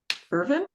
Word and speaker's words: Irvine: pronounced quite like that just chop the E off the end Irvin yes that's it um